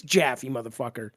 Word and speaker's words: Jaffy: It's Jaffy, Get it right. Rhymes with Taffy.